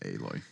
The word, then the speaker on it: Aloy: I always said alloy. I guess I said it wrong. I imagine it comes from the word alloy. Yeah. But Aloy, it's they they pronounce it Aloy.